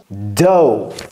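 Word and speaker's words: dough: pétrir la pââte et comment ça se prononce do donc ça attention ça c'est de ce n'est pas th donc ne mettez pas la langue entre les dents ce n'est pas th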